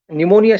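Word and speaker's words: pneumonia: जैसे साइकोलॉजी शब्द का या फिर निमोनिया शब्द का उच्चारण हम जब करते हैं तो पी साइलेंट है ऐसा कहा जाता है।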